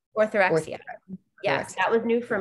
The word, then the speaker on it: orthorexia: How do you pronounce it? Orthorexia. Orthorexia.